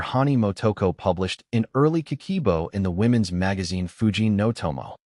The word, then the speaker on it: Kakeibo: It is called Kakeibo, pronounced Kah-keh-ee-boh.